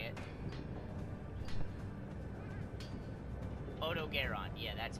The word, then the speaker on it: Odogaron: Odogaron.